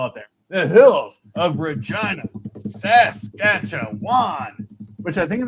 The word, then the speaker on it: Regina: And just remember, Alex, Regina rhymes with that other word.